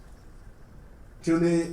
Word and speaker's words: toonie: Toonie is $2. Rhymes with loonie.